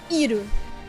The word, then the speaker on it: Iroh: A palavra Avatar é comumente pronunciada como Avatar, Sokka é pronunciado como Sokka, Aang é pronunciado Ong e Iroh é pronunciado Iru.